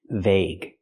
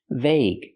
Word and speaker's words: vague: Now let's talk about this word vague. This is the most common pronunciation of gu. The ue is silent. That's the most common pronunciation. Vague.